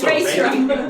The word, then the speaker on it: Reistrom: It's Reistrom. Reistrom. It's canon. Ver. Okay. Reistrom. It's canon. It's recorded.